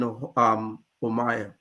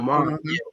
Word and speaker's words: Omaha: You know, there's a wealthy man, who lives in Omaya. I mean, how do you say that again? Yeah, Mahal. Omaha.